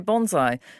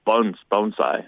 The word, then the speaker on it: bonsai: You say bonsai, and I looked it up. I thought the correct pronunciation is technically a bonsai. It's bonsai. Like B-O-N-E if you were to pronounce it. Pronounce kind of like bone.